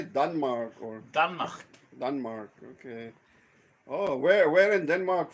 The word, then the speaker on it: Denmark: Denmark.